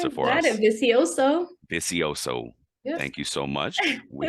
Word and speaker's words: Vicioso: print I keep pronouncing the last name wrong pronounce it for usioso thank you so much we had her on